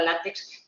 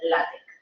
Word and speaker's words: LaTeX: LaTeX, parece que diga látex, pero el colaborador técnico que tenemos siempre me corrige y dice, no, se tiene que pronunciar LaTeX.